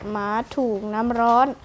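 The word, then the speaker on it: หมาถูกน้ำร้อน: ใจ ควร รู้ ด้วย คำ ว่า มา ถูก น้ำ ร้อน อ่าน ว่า หมา ถูก น้ำ ร้อน หมาย ถึง คน ที่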